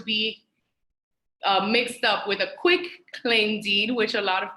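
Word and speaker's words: quitclaim: mixed up with a quick claim deed which a lot of people mispronounce so it is a quick claim deed with a T at the end and basically each one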